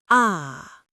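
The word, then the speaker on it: آ: The sound of A is a long A sound, like the A in father. Listen carefully. Ah.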